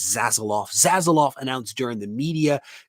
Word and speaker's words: Zaslav: I think that it is Zaslav.